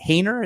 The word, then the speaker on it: Haener: Jake Haener? Is that how you say his name? Jake Haener, yes.